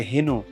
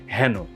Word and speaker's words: হ্যানো: কিংবা হ্যানো কেনো এরকম অনেকে এটাকে বলে স্টাইল করে হেনো এটা আসলে হেনো নয় এটা হচ্ছে হ্যানো অনুস্বার ও চন্দ্রবিন্দু যুক্ত